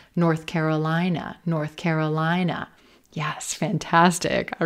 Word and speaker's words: North Carolina: not stressing the first word, not stressing north. We're not going to stress those directional words, north or south. We're going to stress the second word, Carolina, North Carolina, North Carolina.